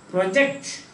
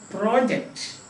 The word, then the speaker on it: project: of stress comes in what the student wants wants to say is not project but project understand that i have